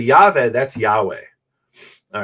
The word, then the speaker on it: Yahweh: y HUV and then the last one is H which is usually silent at the end of a word okay so how do we pronounce that so the scholarly guess is that it's Yahweh and that's based on